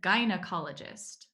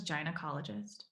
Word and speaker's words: gynecologist: or the vagina ecologist the gynecologist that how it's pronounced he thought it was jain ecologist well yeah they take